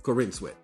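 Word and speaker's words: Corenswet: you're Superman, you know, and then now David Corin sweat. Is is that what is that? Is that how we uh pronounced it? Because I probably just Corin. Corinwat. Yeah, there you go. Corinwat.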